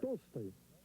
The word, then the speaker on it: Tolstoy: How do you say Tolstoy? Tolstoy.